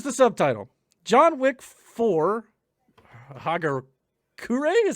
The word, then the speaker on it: Hagakure: so here is the subtitle john wick for hager kure is how you pronounce that it's japanese and apparently it's a